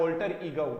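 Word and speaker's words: alter ego: एल्टर की बजाय ऑल्टर ईगो। क्या होगा? ऑल्टर ईगो।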